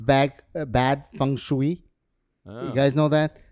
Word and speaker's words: feng shui: It's bad feng shui." Oh. You guys know that? Wait a minute. You say croissant and basil, but you say feng shui.